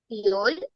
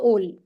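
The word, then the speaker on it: Öl: Because O is O, L is L, so ol. Now, can you try the same word with umlauts? It's Yol, ma'am. Exactly. So basically now somebody who has doubt pronouncing it, it's not ol, it's yol, okay?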